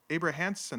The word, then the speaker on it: Abrahamson: No, it's not even close. Abrahamson. Abrahamson. There you go.